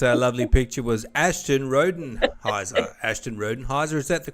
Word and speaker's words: Ashton Rodenhiser: pretend that that lovely picture was Ashton rodenhiser Ashton rodenhiser is that the correct pronunciation you got it I'm impressed good job